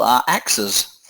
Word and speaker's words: axes: we talk of axes with is but multiple are axes yes you pronounce it slightly differently yes that's versus axis